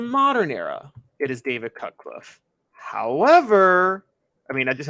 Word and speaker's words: Cutcliffe: well his name uh last name rhymes with rutcliffe and his first name is the same as mine it's David cutcliffe right my name's actually